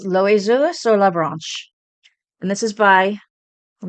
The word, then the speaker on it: l'oiseau sur la branche: So I'm gonna see if I never took French, so I'm gonna see if I can pronounce it right. It's l'oiseau sur la branche, and this is by.